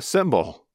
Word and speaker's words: cymbal: But there is also an object used in music called a cymbal. That's spelled C-Y-M-B-A-L. Two words that make exactly the same sound in English are called homophones.